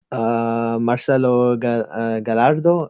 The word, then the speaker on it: Marcelo Gallardo: but with that being said with regards through Marcelo Gallardo as that's how you say his name I'm